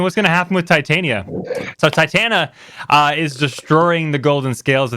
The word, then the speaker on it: Titania: is unsummoned but you're you read that wrong it's not big question what's gonna happen to Titania it's what's gonna happen to Titania you said it wrong you said yeah Tatiana Tatiana the fairy queen